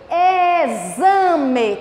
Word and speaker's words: exame: Exame. Tia, eu ia falar enxame. Não é. Em com CH. E depois vem outra vogal, o A, no meio tem um X, é som de Z.